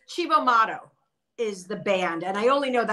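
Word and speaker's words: Cibo Matto: I can't pronounce it. It's Chibo Motto is the band.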